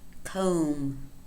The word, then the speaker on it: comb: Comb, comb. Climb, climb. Notice that in these two examples, the letter B is silent, and this is very common in MB combinations.